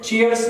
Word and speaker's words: chair: फिर हम प्रोनाउंसिएशन देखेंगे चेयर, ब्रिटिश लोग र का उच्चारण नहीं करेंगे वावल से पहले, चेयर, अमेरिकन चेयर, और ये नाउन भी है वर्ब भी है।